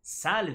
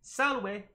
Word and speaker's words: Salve: And so here where they say, Salve, it really should be, Salve, way, way, like a W, like which way to the store, Salve.